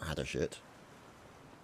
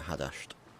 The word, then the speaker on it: Hadasht: Not Hadashit, but Hadasht.